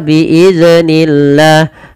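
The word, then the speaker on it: بإذن الله: Contoh biiznillah, biiznillah itu memantul zalnya. Nah, harusnya tidak boleh ya dipantulkan. Bagaimana cara membacanya? Biiznillah, biiznillah. Nah, seperti itu.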